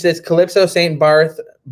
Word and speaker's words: Barth: Barth. It's spelled Barth, but it's Bart.